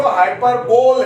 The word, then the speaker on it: hyperbole: अब लिखते हैं इसको हाइपरबोल है या बोले हैं, लेकिन प्रोनाउंसिएशन होता है हाइपरबली। हाइपरबली, बल्ली नहीं है, हाइपरबली।